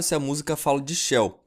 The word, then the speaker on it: Chell: Não fica claro se a música fala de Shell, pois a pronúncia de Shell é praticamente a mesma de céu em italiano.